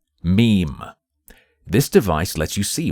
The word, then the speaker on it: ME-EM: Boy Horror-like device called the ME-EM, pronounced meme.